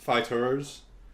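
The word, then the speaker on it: FighterZ: ball z fighters yeah apparently it's supposed to be pronounced fighters or fighter Z I can remember of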